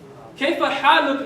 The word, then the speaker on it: كيف حالك: I'll put like a dot under H to tell you it's a ha. Okay? Haluk. Kayfa haluk means how are you?